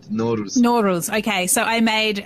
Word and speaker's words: Nowruz: Yeah, Persian New Year called Nowruz.